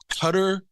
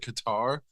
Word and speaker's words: Qatar: ways to pronounce it cutter is like or Cutter that doesn't I don't know why any American would look at that word and pronounce it that way like even if I didn't know how to properly pronounce it I was always pronouncing it Qatar before I was like